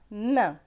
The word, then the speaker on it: main: AIN, c'est 1, donc M et 1, main.